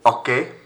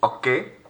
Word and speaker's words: hockey: Again, to practice our pronunciation, please repeat after me. Du vélo. Du vélo. Au hockey. Silent H. Au hockey.